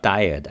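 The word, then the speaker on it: dired: the ed you know i always pronounce it diet it's it's called diet because it's a directory editor it showed for directory editor to add so direct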